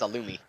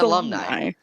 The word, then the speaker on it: alumni: I thought it was Alumi. Excuse me? I thought it was Alumi, bro. It's You don't know what alumni. What's an It's alumni?